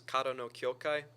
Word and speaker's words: Kara no Kyoukai: I think like the correct pronunciation is Kara no Kyoukai, but I always just say Kara because it's Yeah. the R is an R.